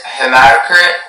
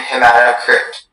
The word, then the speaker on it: hematocrit: There is hematocrit and hematocrit.